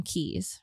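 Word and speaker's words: cay: it's spelled key or spelled k but you pronounce them keys right so the little islands are keys so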